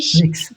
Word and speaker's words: sprichst: এটা আমি উচ্চারণ করতে পারতেছি শোনেন, ইস sprichst.